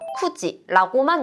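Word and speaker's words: 9時: 숫자 9를 우리가 9시라고 할 때는요 쿠지라고만 읽을 수가 있어요.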